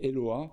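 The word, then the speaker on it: Eloah: Au singulier, paraît-il que ce nom se prononçait Eloa dans certains dialectes sémitiques et il se prononce notamment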